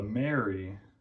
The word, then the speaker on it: Amarey: we are testing out the mary robot vacuum yes the a is silent and it kind of